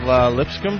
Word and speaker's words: Lipscomb: Steve Lipscomb? That's perfect. Dear God. Well there you butchered.